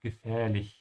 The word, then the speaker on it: gefährlich: And because the ch comes after an i, make sure to open your mouth at the end of gefährlich. And try to practice gefährlich before you add the e to it so it's easier for you. And then eventually you'd say gefährlicher.